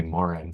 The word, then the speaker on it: Moran: AI um just mention Sally Mor Morgan not Morgan I'm sorry Sally Moran sorry Sally for mispronouncing your name but uh we're using